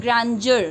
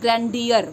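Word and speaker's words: grandeur: Here D E will be pronounced as जा, ठीक है, ग्रैंडर नॉट ग्रैंडियर, गॉट इट।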